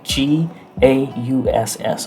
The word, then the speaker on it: gauss: and you can purchase a gas meter it's pronounced spelled g a u s s a gauss meter that you can get a